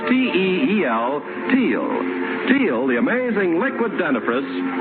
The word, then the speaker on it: Teal: And for lovely smiles, it's T-E-E-L, Teal.